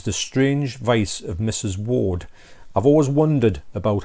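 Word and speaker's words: Wardh: strange vice of mrs ward i've always wondered about how you pronounce this but basically you don't say the h i don't know why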